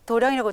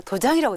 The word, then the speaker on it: 도량: 도량 이렇게 써져 있네요 어떻게 도량이라고 딱 읽으시네요 도장이라고 어떻게 보면 사람들이 있는데네 저는 불자 아닙니까 당연히 도량이라고 읽어야 되고 그래서 마음을 닫는 곳이기